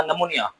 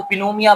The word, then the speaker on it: pneumonia: निमोनिया के spelling में पी लिखते हैं। लेकिन इसको पिनोमिया बा बच्चे पढ़ते हैं। तो पिनोमिया नहीं है। यहां पी जो है वह क्या है? पी हम लिखेंगे जरूर लेकिन इसको पढ़ेंगे नहीं।